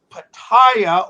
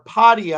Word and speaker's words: Pattaya: at The Rock Factory in Pattaya or Padia I guess is how you say it I'll be playing there